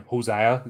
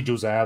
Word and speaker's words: Josiah: what josah saw now I keeps thinking hoseah you know like just been around to many Spanish people um but it's actually josea that's the way they pronounce it so yeah uh